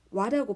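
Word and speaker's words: は: 은는이기 때문에 와타시와라고 읽습니다. 고래와 홍 데스. 소래와 케타이 데스. 아래와 토케 데스. 전부 다 은는의 뜻이기 때문에 와라고 발음합니다.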